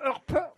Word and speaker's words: Earp: On doit dire Earp.